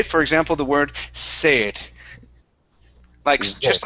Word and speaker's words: sed: All right, so when you say that, okay, when you pronounce that S, you don't say zed. If I said yo tengo zed, that wouldn't sound right, right? I would have to say sed. Tengo sed, right?